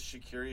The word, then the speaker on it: Shaqiri: Butterworth Jimmy Butler says to be fair it is Shakira if you want to just say it you don't need that Eastern European pronunciation charity no we're going